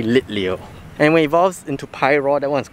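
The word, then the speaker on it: Litleo: the list we have i keep pronouncing it lithium it's actually lit leo anyway evolves into pi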